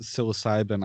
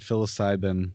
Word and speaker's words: psilocybin: solutions for a change i totally uh i mispronounced psilocybin i said philoside then wow simon oh my god you know one